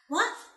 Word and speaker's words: は: So in this case, this は、私は、 wa puts emphasis on Hitomi. And just so the people who are just starting out, it is not the character wa. It is the character ha.